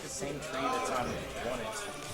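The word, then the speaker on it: Onett: I'm pretty sure that's like the same tree that's on one it. Like the exact same thing. I don't think that's right. That doesn't seem right. Well, alright. Yeah. And it is pronounced one it.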